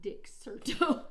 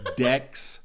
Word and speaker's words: Dexerto: Dexerto, maybe, not Dixerto. No, I said Dex. Did it sound like Dix? Yeah. Okay. Dexerto.